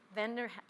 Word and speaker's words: Vander Heiden: Professor Heijden, is that the right pronunciation? It's van der Heijden.